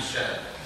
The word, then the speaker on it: Kjell: it's quite easy, because the way it should be pronounced is like this. So, if you know how to pronounce that oil company's name, you know how to pronounce my name. I'm Shell.